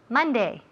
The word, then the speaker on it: Monday: Ok, so, todas esas palabras tienen el mismo sonido. M-O, pero se escribe M-O, pero se oye como si fuera una M-A.